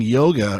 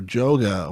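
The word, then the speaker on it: Jóga: the joint it was the song yoga or joga or someone say it's pronounced yo j-o-j-o-g-a from the album homogenic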